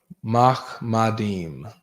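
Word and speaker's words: מחמדים: Mahmadim is how to say it in the Hebrew.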